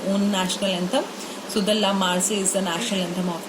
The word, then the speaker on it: La Marseillaise: La Marseillaise. I have written in Hindi as well for the pronunciation thing, so don't get confused. La Marseillaise.